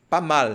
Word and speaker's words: pas mal: E quando nós observamos aqui a transcrição fonética, você percebe que eu coloquei a sílaba tônica aqui, ó. Pas mal. Mal. Em português, nós não temos nenhuma palavra onde a língua ela fica em cima, dobrada.